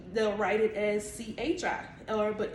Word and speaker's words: Qi: some people actually say she they'll write it as c-h-i or but it's pronounced chi c-h-e-e um that's you know